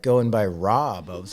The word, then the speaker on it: Raab: name is Rob and my last name is supposed to be pronounced Rob, but my whole life I grew up here in Philly, so then everyone just said Raab, and I just was over it.